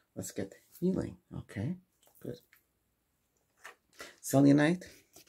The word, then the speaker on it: selenite: Selenite.